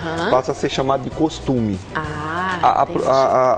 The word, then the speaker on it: costume: a ser chamado de costume ah a a a a pronúncia certa é o costume quando você pega só